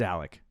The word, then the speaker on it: Alec: It's Alec. It's spelled Alec, but I know people that have their name spelled like that and they say Alex. So yeah, it's Alec.